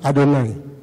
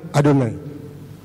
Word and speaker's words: Adonai: Orang Yahudi sekarang itu, kalau ketemu JHWH, pronounce-nya adalah Adonai. Jadi setiap ketemu kata itu dan huruf besar semua, pronounce-nya mereka Adonai.